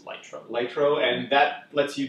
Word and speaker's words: Lytro: There are things out there like the Lito, I'm not sure how I pronounce it, but it's Lytro.